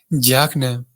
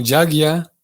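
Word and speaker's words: yajña: es el concepto de yagna. Yagna, o a veces lo pronunciamos como yagya, o yagna es lo mismo.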